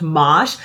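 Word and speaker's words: mâche: It's French, and here in the US, I've heard it pronounced mosh, but it's also known as corn salad or lamb's lettuce.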